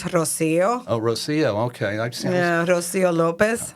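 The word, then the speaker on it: Rocío: No, Rocio, would that be pronounced Rocio Lopez? I would say in Spanish, Rocio.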